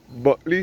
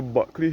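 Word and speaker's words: Bulkeley: Buckley spelled B-U-L-K-E-L-E-Y. That is how Buckley here in Barbados is spelled, B-U-L-K-E-L-E-Y.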